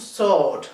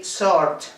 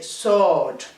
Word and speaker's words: sword: is spelled is is all Artie and it's pronounced sword we have to lengthen the vocal sound and we don't have to pronounce the letter R we don't say sort we say sword okay the first we are going to look